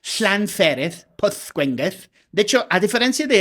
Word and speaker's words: Pwllgwyngyll: O sea, doble L se pronuncia shla. Llanfuereth, Pwllgwyngyll.